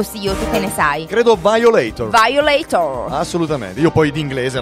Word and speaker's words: Violator: io lei tor o violator come siccome si pronuncia marco silvi te ne sai credo violator violator assolutamente io poi d'inglese ragazzi c'è una